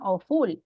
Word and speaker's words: awful: Awful. Valeria. Is it on the first or second syllable? Awful. Off. On the first one, right? Porque no decimos awful. Awful, right?